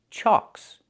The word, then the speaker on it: chocks: The ck is a double consonant that makes the previous vowel short. So we have the a sound like in socks and blocks. Is an open sound. Ah. So it's pronounced chalks. Chalks. Wheelchocks. Not wheelch. But wheelchocks.